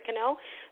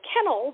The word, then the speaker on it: Kennel: let's just use Carrie canel and I like canel otherwise the people always say kennel but it's not kennel it's canel um it's Canadian um